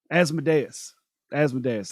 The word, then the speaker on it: Asmodeus: Asmodeus, that's how you say it.